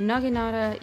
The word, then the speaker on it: naginata: the naginata yeah they said it right there naginata you have is very balanced in terms of